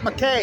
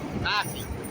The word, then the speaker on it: McKay: It's not McKay. It's spelled McKay, Fawn McKay, Brody. It's Mackey.